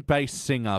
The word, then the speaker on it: Basinger: God now I can't tell which way to pronounce it does she sing tenner no she sings bass yeah you're saying bass singer but you're not putting that much emphasis on